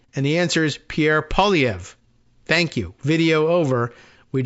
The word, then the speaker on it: Pierre Poilievre: say this guy's name and the answer is Pierre POV thank you video over we just saved a